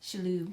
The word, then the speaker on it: Shalhoub: Shalhoub.